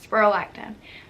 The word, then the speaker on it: spironolactone: That's how you say it, spironolactone.